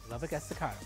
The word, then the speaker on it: Lubbock Estacado: Meanwhile, Bowie will play Lubbock Estacado, if I pronounced that correctly. There you go. You got it. Lubbock Estacado.